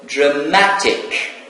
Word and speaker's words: dramatic: So, dramatic. So, the stressed syllable here, it is the second syllable from the end. As we mentioned before the rule, so adjectives ending in ik, so we apply the penultimate rule.